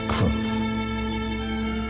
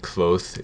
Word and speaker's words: Kvothe: My name is Kvothe.